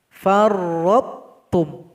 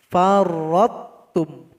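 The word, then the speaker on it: فرطتم: Cara membacanya tidak boleh pakai qalqalah. Jadi ro yang berada sebelumnya harus diloncatkan kepada huruf ta. Farrattum. Salah kalau dibaca farrattum, enggak boleh. Farrattum.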